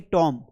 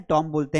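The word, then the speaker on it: tomb: इसे हम पढ़ेंगे टॉम, वो जो कब्र होते हैं टॉम बोलते हैं, तो इसको टॉम पढ़ेंगे, टॉम्ब नहीं पढ़ेंगे।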